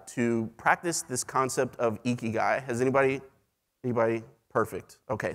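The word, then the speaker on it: ikigai: just kidding just kidding pronounced eeky guy uh this Japanese concept uh eki um translates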